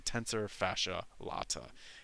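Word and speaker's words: tensor fasciae latae: This is the tensor fascia latt. I've heard it pronounced a bunch of different ways. I think it's probably the best to pronounce it. The tensor fascia latt.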